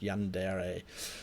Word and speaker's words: Yandere: That's how it's pronounced, Yandere.